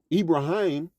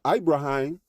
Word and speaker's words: Ibrahim: And the leader uh Ibraim or Ibrahim Abraham, you know, for those who know Ibraim, how it he pronounces it, you know, he um well, what was I going?